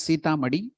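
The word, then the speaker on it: Sitamarhi: place called Sita Madi it is pronounced as Sita Madi but it is written as s-i-t-a-m-a-r-h-i Sita but it is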